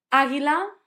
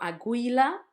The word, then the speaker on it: águila: Águila, eagle. It was not aguila. It was not aguila. It was águila with the accent and the gui.